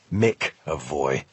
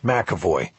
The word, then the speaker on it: McAvoy: and waiting Jack McAvoy he'd gotten a name right but it pronounced it wrong make a voy yes McAvoy I said correcting him